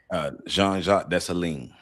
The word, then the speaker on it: Jean-Jacques Dessalines: And pronounce his name for me. Jean-Jacques Dessalines.